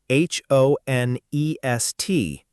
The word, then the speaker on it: honest: And honest, h o n e s t, pronounced honest. No H sound at all.